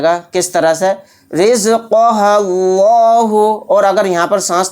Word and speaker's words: اللہ: لا، اللہ پیش ہو، اللہ، تو یہاں پر دیکھیں لفظ اللہ کے لام کو موٹا یعنی پر پڑھیں گے، کیونکہ لفظ اللہ کے